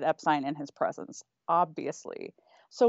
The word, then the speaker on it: Epstein: the manager's name is Brian Epstein and Brian the camera's on his face he doesn't even blank nothing so here's the thing his close colleagues and his friends said epine in his presence obviously